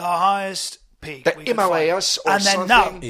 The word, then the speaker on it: Himalaya: no, you're saying it Himalayas. No, listen here. This is how you say it. Himalaya. No, listen to yourself. Yeah. You have to say Yeah. Himalaya. Yeah, you say, think- come I on, think- don't be an asshole. I think Yeah, the language. you The gotta say- language is my first language. If you don't mind. Yeah, show us how to say It's Himalayas. called Himalaya. This good.